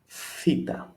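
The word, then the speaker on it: θήτα: And pronunciation always again as a TH, but pay attention, this time is a TH of theory.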